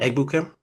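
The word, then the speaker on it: Egbuka: Ebuca, how you pronounce his name? Ebukam.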